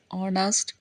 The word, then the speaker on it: honest: So, words like are, honor, honest, honorable, honorarium, heir, heirs, etc. start with the consonant letter H. We use an before them because the H is silent, so they start with a vowel sound.